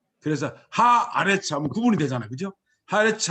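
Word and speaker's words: הָאָרֶץ: 앞에다가 HA 해가지고 붙이면 하레츠 하면 이게 다 죽어버리잖아요. 이게 다 묵음에다가 짧고 이러니까. 그래서 어떻게 되냐면 여기도 장모만 해주는 거예요. 하 아레츠. 그래서 하 아레츠 하면 구분이 되잖아요.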